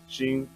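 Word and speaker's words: Sehn: Sheen.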